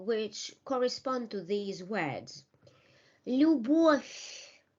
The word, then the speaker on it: Любовь: So let us read the rules, read the words with the rules, and remember the pronunciation of these words, and remember the rules which correspond to these words. Любовь.